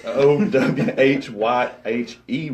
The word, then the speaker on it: Owyhee: And yeah, that's spelled nothing like it sounds. It's Owhyhe Road there in Tool, Texas.